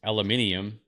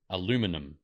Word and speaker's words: aluminium: illuminum illuminum okay so it's spelled different that's why we say it different ah it's aluminium aluminum so it's like minum minium minium and you goes aluminum aluminum so it's spelled I